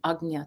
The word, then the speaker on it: Ajna: english translation or arjuna ajna or is kind of the more proper pronunciation agnya chakra we're close right so